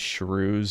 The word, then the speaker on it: shrew: We should use Shrews as the new second. It's too close. Like toucan, no one knows what you're talking about. Shrew rhymes with Jew, so I think most people will be able to figure it out.